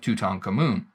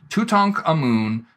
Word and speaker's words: Tutankhamun: So we can sound this out, Tut, Ankh, Amun.